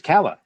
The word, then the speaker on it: Calla: influences so I'm like wouldn't that be Kaya it would Kaya I think um I don't know how to answer that that's not how he pronounces it now in the audiobook Keller and Callahan are it's Cala and Callahan so I don't know